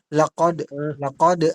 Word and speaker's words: لقد: Lakod. Ang. Ito ay cough, hindi ito ka.